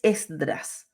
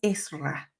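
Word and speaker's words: עזרא: llama la atención que no es Esdras es más bien esra cuando los judíos regresaron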